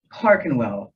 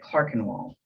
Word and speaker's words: Clerkenwell: I hadn't heard of Clark and well the owner of the hotel clarified when I arrived but I couldn't get the hang of forming only the 1e and kept calling it Clark and wall he was a gentle